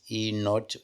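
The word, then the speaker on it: E°: the standard cell potential which is written pronounce as e not e z or E standard for the cell is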